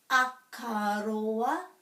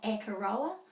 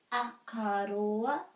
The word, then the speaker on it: Akaroa: Akaroa, not Akaroa, Akaroa.